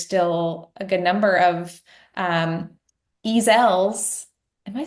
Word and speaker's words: Ezzell: One thing that I noticed, Hannah, is the way that you said the name Ezzell. Mhm. Ezzell.